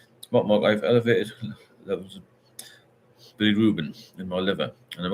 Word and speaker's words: bilirubin: Speak to the doctor about that bilirubin. That's how you pronounce it.